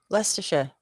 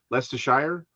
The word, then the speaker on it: Leicestershire: okay i was gonna get less to sure leicestershire not less not likes to shut well this would be the leicestershire yeah lester lysa shire edinburgh no that's edinburgh